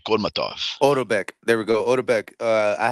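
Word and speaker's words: Otabek: Odebek Kolmatov. Odobek.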